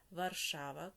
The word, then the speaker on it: Варшава: В польській мові наголос в більшості падає на передостанній склад, а у чеській на перший склад. Отже, Варшава, Катовице, Краків, Переми, Перемишель, Сосновець, Прага, Карлові Вари, Ліберець, кладно, Тепліц.